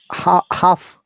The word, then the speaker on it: half: Half, not half, half. L is silent.